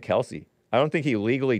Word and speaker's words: Kelce: The father got tired of correcting people. And so he just took Kelce. He started pronouncing it Kelce.